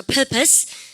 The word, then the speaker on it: purpose: 발음 갖다서 purpose.